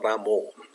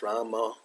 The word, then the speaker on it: Rama: follow Prabhupada's pronunciation, and he says Rama. It could be not completely O. It's not Ramo. It's Rama. It's a little bit going to. La tendencia es que sea un poco más la Rama, but not Ramo.